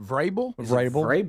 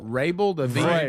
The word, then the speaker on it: Vrabel: Is it Vrabel? Vrabel. The V's silent. Vrabel.